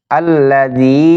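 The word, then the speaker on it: الذي: হামজা লাম জবর আল, লাম জবর লা, আল্লাহ, জাল ইয়া জেরে জি, আল্লাযী, ইয়া পেশ ইউ, ওয়াও সিন জবর ওয়াস, ইউওয়াস, ওয়াও জেরে উই, ইউওয়াসউই, সিন পেশ সু, ইউওয়াসউইসু, ফা ইয়া জেরে ফি, আল্লাযী ইউওয়াসউইসু ফি, সদ পেশ সু, দাল ওয়াও পেশ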